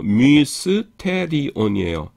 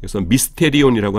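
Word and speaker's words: μυστήριον: 그다음에 요거가 뮤거든요. 그래서 뮤스테리온이에요. 그래서 미스터입니다. 비밀. 그래서 요거는 조심하실게 뭐 워낙 미스테리하고 발음이 같기 때문에 그렇게 어려운 건 없어요. 어려운 건 없는데 그 미입니다. 미스테리온이라고 하지 마시기 바랍니다.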